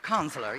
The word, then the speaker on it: Kanzler: Sequoia, director Kanzler, pronounces Kanzler, yeah.